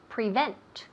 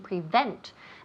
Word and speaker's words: prevent: to prevent yes to prevent prevent and again pay attention to the pronunciation prevent the emphasis falls on the second syllable all right the second syllable prevent prevent all right so